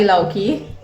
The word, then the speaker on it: lauki: Remember the lauki? Lauki? It rhymes with chowki.